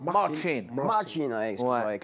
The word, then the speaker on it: Marcin: Marcin, on prononce comme ça Marcin.